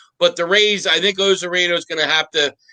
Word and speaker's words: Arozarena: Is it Ozareno or the guy who's lighting it up? Arozarena.